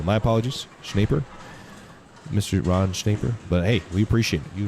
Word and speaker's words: Schneider: we appreciate you ron schneider schneider rhymes with paper i see hey that's